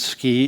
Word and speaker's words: SCI: SCI is the acronym, which we pronounce SCI in Utah, which, like around here, works.